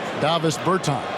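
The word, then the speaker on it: Dāvis Bertāns: Oh, well, now, at this point in my life, it's DeVos Bertans. Is that how you say his name? Yeah. Davis Bertans.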